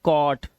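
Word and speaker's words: caught: जी एचटी है इसमें जी एच को हमेशा हम क्या रखते हैं साइलेंट रखते हैं तो हम क्या पढ़ते हैं सिर्फ टी को पढ़ते हैं तो ये हो गया कॉट ये कॉज नॉट नॉट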